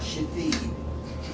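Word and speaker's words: Shithead: One of them was a foster parent that just named her child Shithid. S-H-I-T-H-E-A-D. Shithid? Yes. You would pronounce it.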